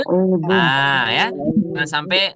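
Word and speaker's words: أَعُوذُ: Yang seharusnya a'udzu menggunakan huruf dzal, A'udhu. ya. Jangan sampai bacanya A'udhu. a'udu.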